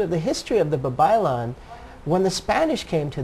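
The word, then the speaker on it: babaylan: it say it again babon b a b a y l a n that sounds like Babylon but it's okay babyon all right yes and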